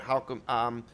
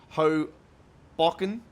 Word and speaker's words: Hoboken: We're at Hogbreaken here at the moment. God, I will get that pronunciation correct. Hoboken.